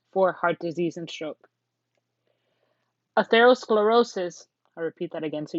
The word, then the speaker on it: atherosclerosis: an increased risk for heart disease and stroke atherosclerosis i'll repeat that again so you know how to pronounce it atherosclerosis is plaque buildup in the artery walls and